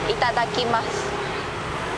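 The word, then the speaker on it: いただきます: Itadakimasu.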